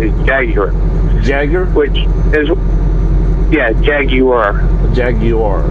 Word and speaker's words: Jaguar: British manufacturer Jager or what most people call Jag Wire it's the American pronunciation it and it's what is what is